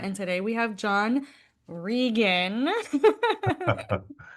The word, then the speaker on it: Reagan: So, my name is spelled like the president, Reagan, but I say Rean.